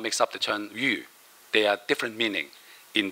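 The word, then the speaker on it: 玉: have jade, we have yu, yok. So yu is Y-U, pronounced Y-U, yu.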